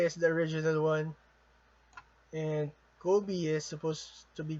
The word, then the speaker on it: Kobe: Okay, so just a trivia, Kobe Bryant was named after Kobe. So, Kobe is the original one, and Kobe is supposed to be pronounced as Kobe.